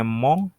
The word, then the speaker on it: mon: Nah, kalau kakek sama, tinggal tambahin depannya mong, tinggal tambahin tengahnya grand, depannya sama-sama mong, kan sama-sama le juga.